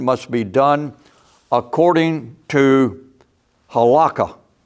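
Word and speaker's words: halakha: be done according to halaka or holah if I'm pronouncing it right or rabbitic law. That word is spelled h a l a k ha.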